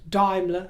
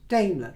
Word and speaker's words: Daimler: And I am aware, before I progress, that Daimler can also be pronounced Daimler, depending on whether you take your influence from Germany or not. I do on this occasion, so I will refer to that car as a Daimler rather than a Daimler, but it doesn't mean